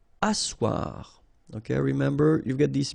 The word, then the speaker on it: asseoir: Asseoir. Okay, remember you've got this beautiful but then phonetically doesn't exist. Asseoir. Remember double S here, it's really strong s, really strong S.